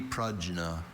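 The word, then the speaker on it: prajna: Are there any alternate pronunciations for the word only? Pragna.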